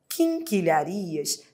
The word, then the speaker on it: quinquilharias: Você não pronuncia u, você não fala queen, né? Você fala king. Você tem o i com o n, porque o n nasaliza o i.